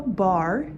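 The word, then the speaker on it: barre: want to find yourself a bar that's b-a-r-r-e a ballet bar to hold on to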